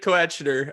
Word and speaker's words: Koechner: I think that's how you're supposed to pronounce it. Let us know. Keep going with your David Koechner.